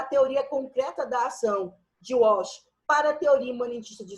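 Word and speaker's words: Wach: Walsh se escreve W-A-C-H, Walsh.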